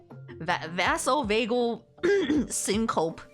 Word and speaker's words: vasovagal syncope: Vasovagal syncope. Sorry, I was saying it super wrong.